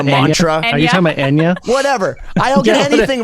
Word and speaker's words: Enya: Are you talking about Enya? Whatever. I don't get anything right. Don't you know? The names of everything's wrong. Yeah. But it's Enya. It's like, but that relaxing, overwhelming, like Enya, Anya, Aerosmith.